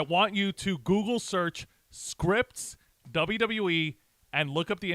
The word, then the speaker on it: Scrypts: go by the handler name Scripts, that is spelled SCRYPTS.